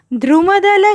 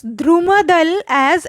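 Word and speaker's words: द्रुमदल: Shubhra Josna Pulakita Yaminim Fulla Kusumita Drumadala Shobhinim. Here I would like to rectify one of your mistakes. To pronounce Drumadal as Drumadal. It's not like that. It's Drumadala Shobhinim. Okay?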